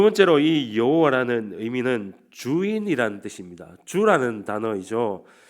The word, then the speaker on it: 여호와: 아도나이이 모음을 가져오게 됩니다 그래서이 야라는 잠과 아도나이 이 모음을 붙여서 이제 새로운 경태의 발음이 생기는데 그것이 바로 우리가 부르는 여호와 하나님인 것입니다 그래서 우리가